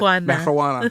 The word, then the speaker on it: marijuana: In the transcripts you had me read, I like how it's spelled with an H. That's how they used to spell it. Marijuana. Yeah. So people would say it correctly. Yeah, instead of marijuana. They weren't used to the J being Spanish.